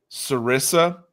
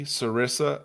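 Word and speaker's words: Serissa: I like a a plant called sarissa. S e r i ss a sarissa.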